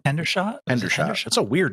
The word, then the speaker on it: Hendershot: Hendershot. Hendershot. That's a weird name. Yeah. No, it was Hendershot.